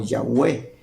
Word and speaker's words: Yahweh: conocer con las cuatro consonantes que se pronuncia yahw y los rabinos o Israel por respeto dejaron de pronunciarlo como yahwe así se pronuncia yahuel las cuatro consonantes no